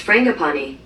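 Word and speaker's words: frangipani: family it has fram hey google pronounce f-r-a-n-g-i-p-a-n-i that's pronounced frangapani it is in the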